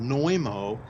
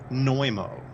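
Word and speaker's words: Znojmo: Republic that's incredible also it's called noimo and I'll spell it for you because it's kind of got an unusual spelling you spell it Z and O J as in Jacob m o neumo and the catacombs supposedly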